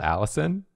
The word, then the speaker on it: Allicin: people a cool fact is the chemical called allison yeah it's spelled like different i figured it had